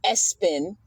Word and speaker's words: ESPN: Naming your kid ESPN pronounced Espen.